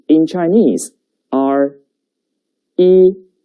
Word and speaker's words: 一: And the pronunciation is 一, 跟我读, 一, 一.